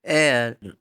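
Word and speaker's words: heir: लोगों को पता है आवर ऑनेस्ट और एयर इन वर्ड्स में एच साइलेंट है इस वजह से यह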